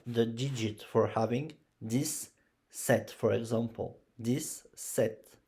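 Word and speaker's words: sept: We are six in the family set. You don't pronounce the P. So it's set.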